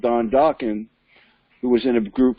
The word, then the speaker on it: Dokken: a guy called Don Dokken who was in a group called ducking rhymes with rockin that remember doc and